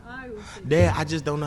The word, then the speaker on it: Owl City: Owl City. Owl. I don't know how to say that. Owl. Like the owl.